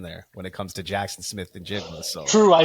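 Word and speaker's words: Jaxon Smith-Njigba: You've gone from I thought you were going to go with JSN there when it comes to Jackson Smith and Jigba.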